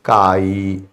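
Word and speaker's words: chi: लिखो या काई लिखो सी आई होता है स्पेलिंग उसके बोलने में काई आता है ये मोल फ्रैक्शन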